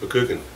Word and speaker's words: McGugan: My family, even though it's spelled G-U-G-A-N, is properly pronounced McGugan.